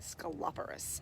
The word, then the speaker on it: Sceloporus: sceloporus occidentalis sceloporus occidentalis i just learned how to say that this morning i wasn't sure where the placement on which syllable at the emphasis so i took a poll and uh three very um uh educated uh individuals uh the staff told me sceloporus it's called sceloporus i'd like to say that